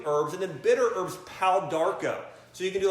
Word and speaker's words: Pau d'Arco: And then bitter herbs, Pau d'Arco. So you can do like a Pau d'Arco tea. That's spelled P-A-U-D-A-R-C-O, 2 words, Pau d'Arco.